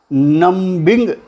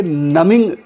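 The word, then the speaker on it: numbing: Years of mind नमिंग toil, नम्बिंग नहीं बोलेंगे, prawns करेंगे, बल्कि नमिंग, बी को साइलेंट रखेंगे, नमिंग कहेंगे। नम कहते हैं सुन होना,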